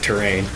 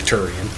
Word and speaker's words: Turian: after terrain after terrain or turian rather kick yeah sorry i watch videos of someone of a super metroid hacker who plays uh who who mispronounces it terrain yeah but i i looked i checked just to make sure it's definitely turian yeah um but anyway